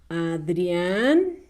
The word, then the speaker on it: Adrián: un hombre propio verdad adrián con acento en la última muy bien adrián cocodrilo